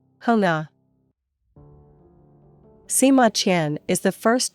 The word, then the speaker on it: Xuŋa: In the Hunnic language, it would have been pronounced as Xuŋa.